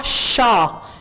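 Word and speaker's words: chat: मोस्यो क्लेमो, आ शा एक बिल्ली, मियाओ, राइट, आ शा एक बिल्ली, टी साइलेंट है यहां पे, शा शा, जैसे आप कहते हैं ना चा, इसी तरह आप कहेंगे शा, आशा एक बिल्ली।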